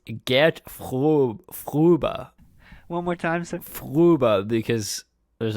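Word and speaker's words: Gert Fröbe: i i i think you'll find it is pronounced get fuba one more time because there's a [ __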